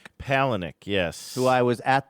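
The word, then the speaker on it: Palahniuk: Chuck Palick. Palenick.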